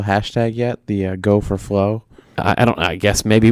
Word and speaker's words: Flowe: We'll go with the Flowe. Go with the flow. But that's a silent E at the end. Flowe.